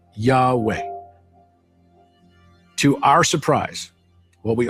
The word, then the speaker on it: Yahweh: the name of God which is not intended to be spoken and is pronounced Yahweh.